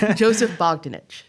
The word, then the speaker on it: Joseph Bogdanich: Joseph Bogdanich.